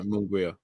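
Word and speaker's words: Munguía: Is that how you pronounce it, guys? Manguia? Yeah, Munguia.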